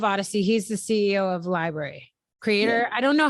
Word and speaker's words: LBRY: Just so folks, sorry, just to clarify, when we say library, we're not meaning like the book, like public library. We're talking about the library is spelled like LBRY, right?